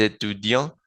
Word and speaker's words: étudiant: Y lo mismo con étudiant, étudiant y con étudiante, étudiante. Bien, ¿qué quiere decir esto?